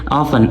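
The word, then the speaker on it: often: very वेरीरी का मतलब बहुत नेवर कभी नहीं नेवर कभी नहीं मोस्टली ज्यादातर ऑफन अक्सर ऑफन टी साइलेंट है ठीक है ऑफन अक्सर ऑलवेज हमेशा ऑलवेज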